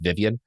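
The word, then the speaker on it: Vyvyan: And it's like spelled V Y an's name but I think it's just pronounced Vivian.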